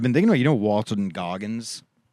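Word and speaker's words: Walton Goggins: And I've been saying that Walter Gogggins needs his roses. Well, you keep saying his name wrong. It's Walton. Walton Gogggins.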